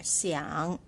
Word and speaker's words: 想: tone you start here Xiang young so a third tone you're going down and up right so it's quite a deep sound see young down and